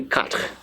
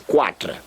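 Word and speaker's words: quatre: like that and that will give me example pronunciation I want there and that will give me cut cut let me say cut so that you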